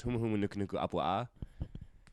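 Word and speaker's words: Humuhumunukunukuāpuaʻa: All right, so it's Humu Humu Nuku Nuku Apua'a.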